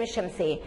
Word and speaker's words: الشمس: مثل الشمس، شوفوا أنا لما بنطق الشمس أنا ما قلتش الشمس، انا كلت فيها اللام، تبقى دي لام ايه بالظبط كده، هي لام شمسيه.